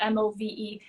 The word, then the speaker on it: Movemeant: So the name of the business is called Movement of Massage and Yoga, and it's not like spelled like meant like movement. It's spelled Movemeant.